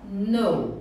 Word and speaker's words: know: Gente, esse K aqui, ele não é pronunciado. Então a gente fala no. No. Igual quando você fala yes, no. Ah, tá. Né? No, de não, a pronúncia é igual.